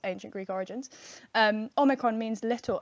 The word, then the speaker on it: Omicron: So because everybody has been mispronouncing the word Omicron, and that's how it should be pronounced, Omicron, with a short O at the beginning. Some people are saying it Omicron, Which is particularly annoying